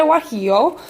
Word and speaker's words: guajillo: familiar so these are chile guajillo and that's spelled with a g for any of you who don't know and these are a